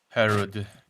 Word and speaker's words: Herod: Herod. Like Harrod. like Harrods in London, Harrods.